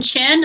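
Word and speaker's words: Xin: gonna say it wrong yin chin oh okay that's helpful so the x is like a chest sound all right be patient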